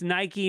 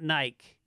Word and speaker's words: Nike: And it's Nike, not Nike.